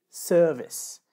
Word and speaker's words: service: et un vice, et pour le deuxième mot, c'est service. Donc la première explication, c'est déjà la syllabe qui est accentuée. Donc dans le deuxième mot, c'est la première syllabe qui est accentuée, le sir de service.